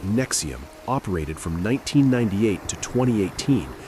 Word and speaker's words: NXIVM: Nxivm, pronounced Nexium, operated from 1998 to 2018 as a multi-level marketing company selling personal development seminars.